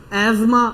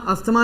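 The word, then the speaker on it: asthma: अब ये कौन सी रेस्पिरेटरी डिसऑर्डर, ब्रोंकाइटिस, एज्मा, अस्थमा नहीं होती प्रोनाउंसिएशन, एज्मा, ठीक है।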